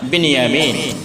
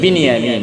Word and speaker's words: বিনিয়ামিন: সর্বশেষ সর্বকনিষ্ঠ সন্তানের নাম বিনিয়ামিন কি নাম বিনিয়ামিন বিনিয়ামিন আমরা উচ্চারণ করি বুনিয়ামিন এটার বিশুদ্ধ উচ্চারণ হলো বিনিয়ামিন বিনিয়ামিন বয় রসী আরবিতে বা কেসরার সাথে জেরের সাথে বিনিয়ামিন ইউসুফ এবং বিনিয়ামিন এই